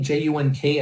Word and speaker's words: Junk: there so it's signed my name j-u-n-k as you can see is basically pronounced junk but junk doesn't go very well so we use